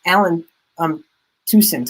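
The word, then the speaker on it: Allen Toussaint: But Alan Toussaint, I believe is how you pronounce it, and his lead track off of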